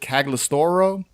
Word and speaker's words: Cagliostro: They had a treatment for this film called, it's called Cagliostro, I believe is how you pronounce it, Cagliostro.